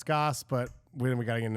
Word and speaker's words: Gass: Twitter at Empire gas my last name g-a-s-s pronounce Goss but we gotta get